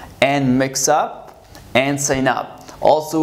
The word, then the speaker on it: mix up: Here, we're sorry about the mix up.